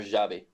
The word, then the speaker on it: Xabi: I did think about Xabi Alonso or Xabi. Am I saying it right? Yeah, Xabi. It sounds so similar. Xavi.